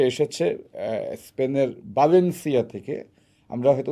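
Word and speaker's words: Valencia: Alvarez সে এসেছে স্পেনের ব্যালেন্সিয়া থেকে আমরা হয়তো উচ্চারণ করি ভ্যালেন্সিয়া কিন্তু স্প্যানিশের ভি এর উচ্চারণটা বি এর মতই আচ্ছা ব্যালেন্সিয়া থেকে এক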